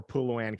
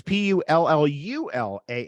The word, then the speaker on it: pullulan: So I always choose vegetarian or Puluan capsules. What's that last thing you said? Can you spell that? Yeah, Puluan is Pullallan. I've never heard of that before. What is that? Sorry, it's Pullulan.